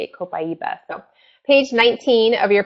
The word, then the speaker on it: copaiba: a while to learn how to say it copaiba them page 19 of your product guide so